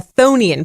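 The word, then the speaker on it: chthonian: turns into what's called a phony 'n planet that's spelled with a silent CH at the beginning they're named for the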